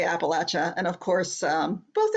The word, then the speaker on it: Appalachia: Encompass the north but if you say Appalachia down here you're going to get an Apple thrown at you so that's how you